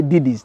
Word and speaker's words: Didi: Actually, I struggle at times how to say Didis. They say it's Didi. So the pronunciation is difficult, but it's Didi.